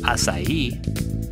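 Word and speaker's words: açaí: on a budget what are assai berries asai pronounced asai is native to one of the largest biodiverse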